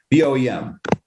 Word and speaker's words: BOEM: Eli, would you mind introducing our experts from, is it BOEM? Is it BEAM? How do you pronounce B-O-M-E? B-O-E-M. Yeah, Bureau of Ocean Energy Management. BOEM, there we go, much better.